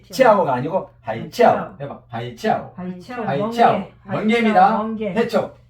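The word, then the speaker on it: 海鞘: 뒤에 있을 때는 삼성 발음을 하지만 앞으로 온다거나 삼성이 연속될 때 앞에 있는 삼성은 이성화 됩니다. 그러니까 하이 치아오가 아니고 하이 치아오. 하이 치아오가 아니고 하이 치아오. 해봐 하이 치아오.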